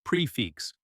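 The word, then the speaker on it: prix fixe: Pronounced prefix.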